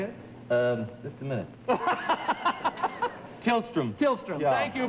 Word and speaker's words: Tillstrom: do you say it um just a minute tillstrom tillstrom thank you B tillstrom and Ollie thank